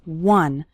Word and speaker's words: one: minutes a day finishing one short activity the word one starts with a w sound okay some students pronounce it like on but that's not correct it's one one short activity and